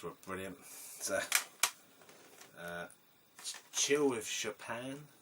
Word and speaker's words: Chopin: So, Chill with Chopin, or Chopin, depending on how you want to pronounce it, but I think it's Chopin.